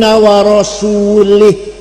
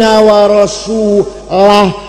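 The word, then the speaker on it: وَرَسُولُهُ: Ada orang baca Quran, wa annallaha bari'um minal musyrikin wa rasulih. Allah tidak melindungi orang musyrik dan tidak melindungi Rasulullah. Salah. Yang benar bacanya wa annallaha bari'um minal musyrikin wa rasulah. Jangan wa rasulih, wa rasulah.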